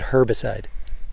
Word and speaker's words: herbicide: But we know how we know, because you said herbicide. Oh, how do you say it? Herbicide. There's an H there, you know.